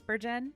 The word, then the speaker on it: Bergen: It is Bergen. Okay, so I did say it right.